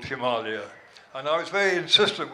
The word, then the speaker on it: Himalaya: than Himalaya so uh I had gotten to put what they call this a macron a sort of line above the a the first a in Himalaya so that people might actually try and pronounce the name correctly it is of course from the Sanskrit Chima meets me snow and Alia means Abode Abode or area or region of snow